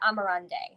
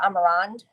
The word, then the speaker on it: Amarande: So, because I know that some people, if you speak French, might pronounce it Amarande. But so I pronounce it Amarande because I studied abroad in Spain.